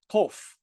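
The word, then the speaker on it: קוף: And you notice I pronounce it differently than the kaf. So it sounds like the kaf, but I pronounce them differently. I have kof, kof, kof, and kaf, kaf, kof, kaf. Kof is more in the back of the throat. We call that emphatic, like the sa, sad, and the ta, tet.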